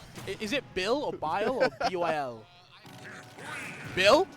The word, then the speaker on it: Byl: Is it Bill or Bile or B-Y-L? Bill? Bill!